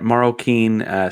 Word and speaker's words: Marroquin: And that's at Marroquin, spelled phonetically for the folks that are listening on audio platforms, MAHROWKEEN.